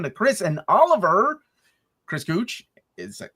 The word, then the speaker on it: Gooch: Chris Gooch, is that how you pronounce it, sir?